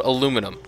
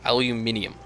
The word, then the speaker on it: aluminium: me check something yeah it's spelled aluminum clearly they're unaware of the fact that the proper you know thing is aluminium no seriously that that is what it is okay so I